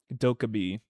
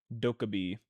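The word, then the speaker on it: Dokkaebi: Doabe. Doabe. It's like Togepi. Like the Pokemon.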